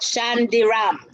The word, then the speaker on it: Chandaram: Let me say that, Chandaram, so everybody pronounces it correctly.